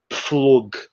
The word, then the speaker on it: Pflug: So it's again like in the first one, pf. Yes, yes, it's pf, and that's actually pflug.